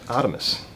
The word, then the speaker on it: Artemis: It's actually a product called Artemis, which is spelled RTMS, but very similar to the old Greek god Artemis, which was the god of the hunt.